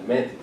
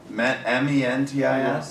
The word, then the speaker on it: Mantis: Yeah, Mantis. Did anyone else MENTIS? Mantis, like yeah. Like praying mantis. Mantis. Is it mantis or Mentis? mentis? Mantis. M-E-N or M-A-N? How do you spell it? M-A-N. M-A-N-I-S. Mantis.